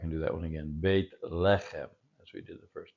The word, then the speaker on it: Beit lechem: Beit lechem. Beit lechem. No, actually, the pronunciation accents here, so let's go back and do that one again. Beit lechem, as we did the first time.